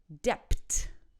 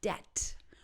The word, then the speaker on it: debt: This is about silent B's. So here we go. Don't say debt. It's actually debt.